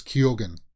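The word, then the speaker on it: Keoghan: it pronounced t-o-n-q-n but he himself said that he pronounces the g in it so it's kyogen um and Anya Taylor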